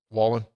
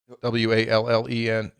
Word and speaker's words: Wallen: to the Morgan Wallen is it am I pronouncing that right Wallen w-a-l-l-e-n huge country music guy I I'm not I'm